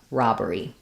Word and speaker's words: robbery: First, let's look at how to pronounce robbery. We have first syllable stress, and letter O says ah in this word.